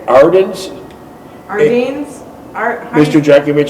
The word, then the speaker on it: Ardennes: Ardennes? Mr. Jeckovich, it's spelled A-R-D-E-N-N-E-S.